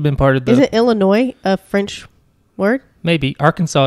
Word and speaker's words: Illinois: was an Indian thing it's a frenchification of an Indian word gotcha and that's why there's a silent s cuz French they we